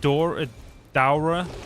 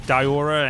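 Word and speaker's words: Daora: Uh, some some pronounce it Dor Dora and some pronounce Diora and it's obviously all within one game.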